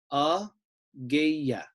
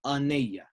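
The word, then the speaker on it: ⲁⲅⲓⲁ: So this word then becomes a-geya, not a-geya and not a-neya. It's a-geya.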